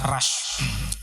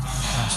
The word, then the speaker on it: Rush: Karena dulu 2009 beliau beli mobil baru, Toyota, ini bukan iklan Pak ya, Toyota Rush. Bukan Rush apa Rush yang bacanya? Rush. Ya, kalau Rus nanti didengar mak-mak di rumah Pak jangan.